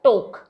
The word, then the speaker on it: talk: Next देखिए, के से पहले भी अगर एल आ जाता है तो भी एल साइलेंट हो जाता है, टोक, TALK, टोक, ये कॉम्बिनेशन याद रखिएगा, एल के यानी कि एल साइलेंट।